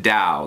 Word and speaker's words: Tao: have is Tao the but you pronounce it Dow the da of Steve